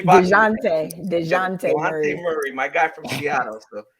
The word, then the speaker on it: Dejounte: So the guys that were added were Melo Ball and Javonte Murray. I'm saying his name wrong. I'm totally DeJounte Murray, my guy from Seattle, so from the Spurs.